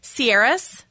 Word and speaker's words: Ciares: wrong but like right okay and is it sieras yes that's ex oh my gosh okay javanka